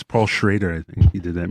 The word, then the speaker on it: Schrader: I think it's Paul Schrader. I think he did that movie. That's pronounced Schroeder.